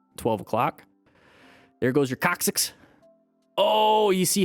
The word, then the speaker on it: coccyx: went way past 12 o'clock there goes your coccyx oh you see how he's like straight in the legs yep there it is where you guys think I'm probably making this up how do you say it coccyx one more time coccyx there you go thank